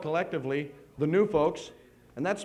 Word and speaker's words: Gnu Fokes: We are called collectively the Gnu Fokes, and that's spelled Gnufokes.